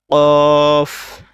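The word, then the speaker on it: ق: করে উচ্চারণ করতে হবে অনেক সময় কফের উচ্চারণ এবং কাফের উচ্চারণটা মিলিয়ে যায় তো দুইটা যেহেতু আলাদা হরফ তো দুইটা আলাদা উচ্চারণ রয়েছে এ কারণে দুইটা আলাদা সঠিক উচ্চারণ কফ এটা ভিতর থেকে উচ্চারণ হবে ক এরকম একটা চিহ্ন হবে উচ্চারণ হবে কফ তারপরে কাফ আগেরটা কফ এটা কাফ তারপরে লাম মিম নুন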